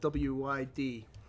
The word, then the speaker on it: Lwyd: you want to confirm this, but it's I'll pronounce this wrong, but the tradition of Mari Lwyd. It's Lwyd.